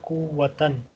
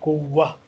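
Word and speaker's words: قُوَّة: On normal occasion, we say kuwatan, but when this word is at the end of a sentence or when we stop here, I will say kuwa.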